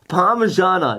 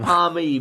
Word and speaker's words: parmigiana: It's potato cake, not scallop whatever whatever thing that you weird thing It's parmigiana, not It's a not parmy, whatever, but it infuriates me.